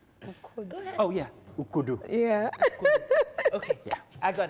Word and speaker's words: Ukodo: okay so it is called oh yeah ukudu yeah okay yeah i got it finally thank